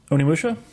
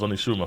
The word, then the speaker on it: Onimusha: Am I saying it right? Onimusha? Yeah. Yep. I thought it was Onishuma for some reason.